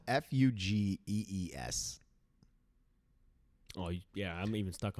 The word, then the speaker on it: Fugees: It's Fougies? No, Fugees.